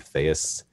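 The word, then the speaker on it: Chthaeus: s dot com it's a made up word fais that's how you pronounce it but anyway there you'll see uh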